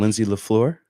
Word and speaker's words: Lindsay la Fleur: So I'm here with Lawrence Blau and Lindsay LaFleur.